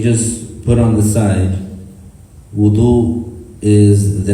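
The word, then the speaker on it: وَضوء: with, you call that wudu with a fatha on the waw.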